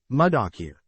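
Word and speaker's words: muddakir: That is with doubling of consonant, dal, d. Abu Dawud said, the word mudakir may be pronounced as mim, m, with a short vowel u. Dal, d, with a short vowel and kaf, k, with a short vowel I.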